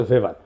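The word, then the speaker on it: Weber: দার্শনিক আছে ম্যাক্স ভেভার এটা ওয়েভার বলে অনেকে এটা উচ্চারণ আসলে ভেভার তার একটা লেজিটিমেসি এবং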